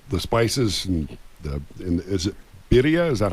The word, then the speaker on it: birria: That the spices and is it birria? Is that how you pronounce it?